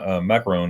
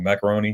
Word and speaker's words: Macron: uh france uh president macron i'm saying his name wrong macaroni macaroni macaroni macaroon macron yeah he uh he uh